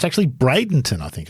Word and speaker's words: Bradenton: this week so you mentioned there it's actually Bradenton I think it's actually pronounced Jimmy I always thought it was Bradon too Bron yep yeah I always thought Bradon